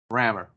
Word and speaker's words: Rammur: for the digital and it's spelled r-a-m-m-u-r rammer so what's the book